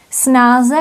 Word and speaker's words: snáz: Snáze, snadněji. And informal Czech has this form, short form, snáz. And again, the Z at the end is pronounced as S. Snáz, snáz.